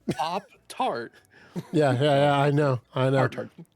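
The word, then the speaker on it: Pop-Tart: yeah there you go you didn't say partars oh you know you you say oh it's a part-time it's pop tart yeah yeah yeah i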